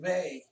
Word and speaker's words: ve: it some sound and the vowel e in spanish is pronounced like the long a in cake so vey and then